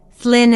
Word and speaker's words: Llyn: When the Romans came, they could not pronounce the word Llyn, Flynn in the British way, and called it Lon, hence their word Londinium.